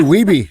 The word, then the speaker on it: Wehbe: I say Wehbe. Yeah. Yeah. That's how most people say it. Wehbe.